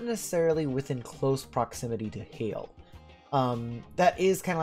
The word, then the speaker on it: Hayle: Hayle is actually the correct pronunciation of this city.